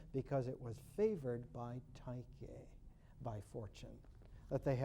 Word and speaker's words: Tyche: It's interesting because for fortune, in the Greek, is not pronounced fortune at all, but is pronounced Tyche.